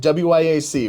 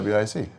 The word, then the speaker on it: WIAC: How do we pronounce the name of your conference? You've been very good about saying WIAC, which is That's the WIC.